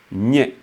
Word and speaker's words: Nye: Dans la langue parlée, il faudrait insister sur le fait que là, le nya, du fait de sa construction de la syllabe, le nya, qui est une syllabe basse, elle monte.